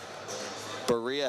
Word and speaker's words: Berea: It's actually pronounced Berea. I think I'd been saying Berea the entire time, so my apologies out there to all of our Berea fans listening.